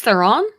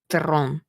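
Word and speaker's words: Theron: third Batman movie uh will tell me shice Theon no if you ever pronounce her name that way I will hit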